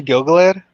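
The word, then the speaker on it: Gil-galad: Um, if I'm pronouncing that that's supposed to be Gilgalad.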